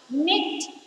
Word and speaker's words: knit: Eighth one, knit. K-N-I-T, knit. K-N-I-T, knit. Letter K is silent, so circle letter K.